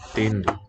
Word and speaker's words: entendo: Not a real N there in syllable 2. Eu entendo os animais. About the first one, entendo sounds like a real N with contact and full sealage. But entendo seems to color the vowel instead.